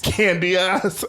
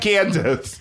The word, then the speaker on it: Candiace: Candy ass, as her name is spelled. Her name is spelled Candiace. That's not Candace.